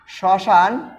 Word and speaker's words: শ্মশান: আবার লিখতে পারি শ্মশান। শ্মশান এর উচ্চারণটা হচ্ছে শ্মশান।